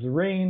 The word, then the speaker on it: Zerene: way they pronounce it the rain and after a while I decided you know that's okay that kind of rhymes with serene which is the way I like people to feel when they're using my